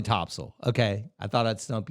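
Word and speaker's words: Topsail: Florida well interesting cuz 99% of people are going to say top sale yeah no definitely topso okay I thought I'd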